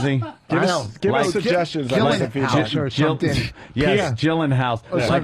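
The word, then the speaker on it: Gyllenhaal: suggestions yes gyllen house gyllen hall or or Gillan Hall I've heard uh two ways it could be pronounced so what is it uh I've heard Jake gyllenhal I think that's pretty accurate oh I was yeah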